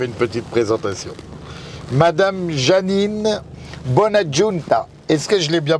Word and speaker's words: Bonaggiunta: Aujourd'hui, j'ai la chance d'avoir dans ma voiture, attention, j'ai fait une petite présentation, Madame Janine Bonaggiunta. Est-ce que je l'ai bien prononcé?